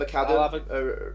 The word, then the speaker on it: McAdam: That's Tom McAdam rhymes with Adam.